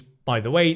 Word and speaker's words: by the way: By the way, think of it as one sound.